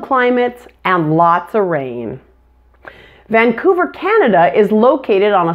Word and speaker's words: Vancouver: syllables van ku ver the middle part is the loudest and longest Vancouver now let's take a